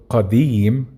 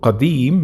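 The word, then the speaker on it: قديم: In Masri, for example, we don't pronounce qa, we change it to a, which is something I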